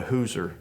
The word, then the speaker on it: Hauser: Sort of a surprise to me, well, I married a Hauser, and that's the pronunciation in Forsyth County of H-A-U-S-E-R.